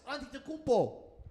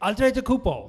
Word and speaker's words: Antetokounmpo: And an injured Giannis, Antetokounmpo. Go ahead, say that. Say it the way I did. That's how you properly pronounce his name. Antetokounmpo.